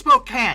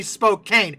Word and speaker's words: Spokane: Pacific 4449 and Spokan apparently it's Spokan look yall got to stop yelling at me about that there is an e at the end of that phonetically it should be Spokane it is not my fault but Spokan Portland